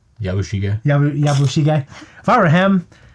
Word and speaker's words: Yabushige: But by the way, if I were Habuchige, or how do you say his name? Yabushige.